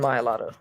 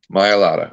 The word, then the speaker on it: Mailata: Can you pronounce his name for me? Jordan Mailata. Mailata.